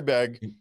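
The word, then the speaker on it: Begue: last name is b-e-g-u-e it doesn't look like it sounds yes it is french but gay i believe it's the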